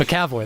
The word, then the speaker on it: McAvoy: McAvoy. McAvoy, that was it. You tried to pronounce it wrong, and you did it right.